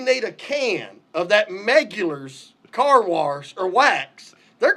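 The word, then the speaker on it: Meguiar's: he kind of asked me, how do you pronounce that? And he said, like, what do you call it? Meculars? Megulars.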